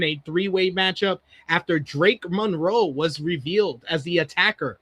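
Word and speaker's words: Monreaux: It's not It's like Monroe. Monroe, but it's M R E A U X.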